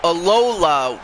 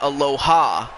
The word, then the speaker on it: Alola: Oh, Alola region, not Aloha. Alola.